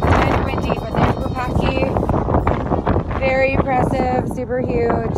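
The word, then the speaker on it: Wupatki: This is part of the ruins of Wupakti. I always say it wrong because I say Wupakti, but I think it's Wupakti.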